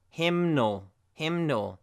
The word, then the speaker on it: hymnal: So we have hymn here, but hymnal. So the N comes back.